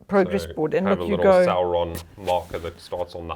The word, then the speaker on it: Sauron: right how do you say that Sauron saon Sauron yeah you see he gets pronunciation not me so much anyway he moves